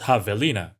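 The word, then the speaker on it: javelina: Peckeries are also called havina or at least I think that's how it's pronounced.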